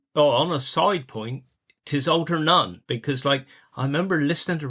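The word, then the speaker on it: Altarnun: and they pronounced it Alternun. And the Cornish never pronounce it like that. They always stress the last syllable kind of thing. So it's Alternun, not Alternun.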